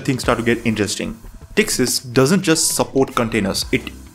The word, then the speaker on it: Ptyxis: The P is silent here, though. We just call it Texas. Now, here's where things start to get interesting. Tixis doesn't just support containers, it embraces them like they're its favorite child.